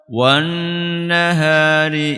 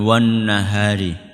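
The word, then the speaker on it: وَالنَّهَارِ: Jadi cara bacanya jangan kecepatan. Bukan wan nahari tapi apa? W nahari. Jadi agak di agak ditahan ya.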